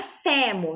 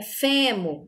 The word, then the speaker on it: fêmur: Se nós tivéssemos aqui o acento agudo, a gente falaria fé, fêmur, fêmur, não é fêmur, né? É fêmur, o som mais fechado, um som mais para dentro, certo?